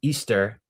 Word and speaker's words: Ishtar: the Hebrew understanding uh and Ishtar being pronounced as Easter, which is the goddess that we celebrate during the Easter holiday.